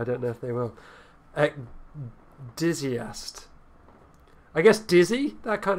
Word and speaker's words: ecdysiast: Ecdysiast. It's pronounced like that. Did you hear that? I did. Okay. I hope our viewers at home heard it. I don't know if they will. Ecdysiast.